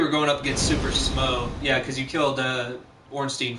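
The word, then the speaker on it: Smough: Like, for instance, last week I was struggling so bad with Ornstein and Smo, however you pronounce his name. It's pronounced Smauwug. Smauwug.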